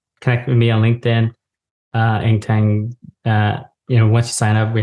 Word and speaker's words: Eng Taing: So listeners, it's Eng Taing, and it's ENGTAIGN.